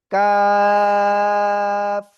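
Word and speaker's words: كاف: মনে করেন জিহ্বার গোড়া, এই যে জিহ্বার গোড়া থেকে একটু আগে বাড়াবেন, তারপর আবার উপরে তালুর সাথে লাগিয়ে চিকুন আওয়াজে আপনার 4 আলিফ টেনে উচ্চারণ করতে হবে। কাফ।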